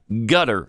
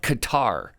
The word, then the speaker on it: Qatar: gonna call it kabul i'm not gonna call it gutter i'm gonna call it qatar and i'm not going